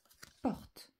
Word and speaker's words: porte: une porte t et attention pour que le t s'entende un e muet à la fin et je n'oublie pas